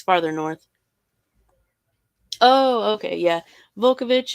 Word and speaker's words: Vukovich: Vukovich is the most common pronunciation that I've heard, along with Vukovich. So I'm not sure if the L is supposed to be silent or if it's. I've heard it pronounced both ways.